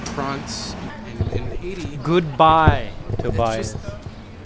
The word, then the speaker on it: Prince: life said he said Prince but it's pronounced prawns and goodbye Tobias they say it up in the throat like the French do the prawns Katie used